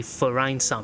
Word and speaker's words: Vereinsamt: update 1.9 verine s or actually verine you know in German they pronounce the V with an F sound but anyway we're back